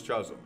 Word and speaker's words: chasm: meet me Beyond this Chasm Chasm Chasm Chasm is chasm the H is silent bro how do we